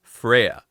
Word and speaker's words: Freya: He brainwashes her and then renames her to Freya, which is pronounced in Japanese the exact same way as Flare.